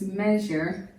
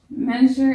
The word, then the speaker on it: measure: Measure is a two-syllable word. Measure. That EA sort of meshes together to form an S sound. You may have learned about that EA sound in your orthography class. Something like bread.